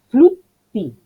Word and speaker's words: flutti: no es eso, es cerrar la primera sílaba en flut, flut, y no digo,